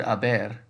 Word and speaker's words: haber: conjugates as us so because the h is silent the future form of